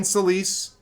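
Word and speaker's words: Celyse: Yeah, in case you're curious, Celise is spelled C-E-L-Y-S-E.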